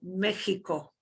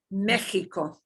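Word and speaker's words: México: make a show sound sometimes though it's just like that h sound like mexico mexico like tejas yeah that 30 h mexico tejas sometimes even like a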